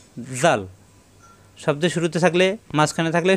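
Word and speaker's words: ذال: জিব্বার আগা দাঁতের আগায় লাগিয়ে নরম করে উচ্চারণ হবে জাল।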